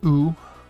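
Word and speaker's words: う: u turned sideways and it's pronounced ooh like the u like the u and u so we have a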